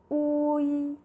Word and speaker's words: hui: As H-U-I, we have U and I. Can you guess how it is being pronounced? The vowel U read as U. The vowel I, read as E. When we combine them together, it becomes Uyi, Uyi.